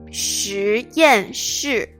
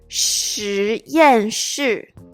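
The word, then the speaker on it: 实验室: 实验室实验室实验室 This word is kind of tricky because we have the same pronunciation in different tones in the same word.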